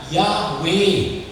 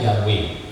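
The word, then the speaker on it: Yahweh: Yunani itu memberi kesaksian bahwa nama itu dipronunnya diucapkannya yahwe diucapkannya yahwe dengan huruf latin tertulis di berarti dibacanya yahwe oke nah saudara-saudara Ini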